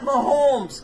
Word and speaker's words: Mahomes: Why do so many people mispronounce his last name? The guy that mispronounces his the guy on Sports Radio 810 that does middays, and he always says Mahomes. Mahomes. It is like there's not. an L in there. It is not Mahomes. Yeah, come on, man. It's Mahomes.